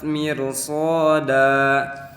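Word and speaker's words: مرصادا: Di sini ada kata mir ada huruf yang berharakat kasroh bertemu dengan ro yang mati, maka karena ro sebelumnya ada harokat kasroh, maka cara bacanya itu harus ditipiskan atau tarkik.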